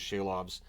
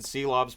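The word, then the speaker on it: Silovs: And I've always pronounced it Seelovs, but since Shorthouse was saying Shelovs, I'm trying my best to adapt and make that change because the Canucks announcer likely has that right.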